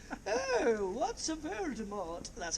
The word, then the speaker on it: Voldemort: You said it with a hard T on the end of it. Should be pronounced Voldemort. Voldemort. Is that French for death, M-O-R-T, Mort.